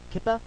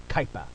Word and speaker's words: Kuiper: it how i want i'm saying it like kaipa like diaper like a diaper belt something i assume you